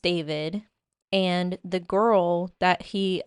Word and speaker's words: D4vd: It's spelled really weird, but it's it it's pronounced David.